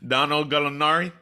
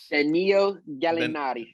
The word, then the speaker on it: Danilo Gallinari: How do you pronounce his name? Donald Gallinari? Danilo Gallinari.